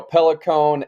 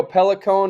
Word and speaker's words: Pellicone: Is it Matteo Pellicone or Pellicone? You were over there. Am I pronouncing it right? Yeah, I think it's Pellicone. I think you got it right.